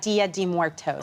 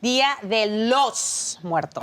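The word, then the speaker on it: Día de los Muertos: First of all, it's not Dia de Muertos. Okay. Dia de los Muertos. Oh, Dia de los Muertos. Excuse me. That's a better pronunciation.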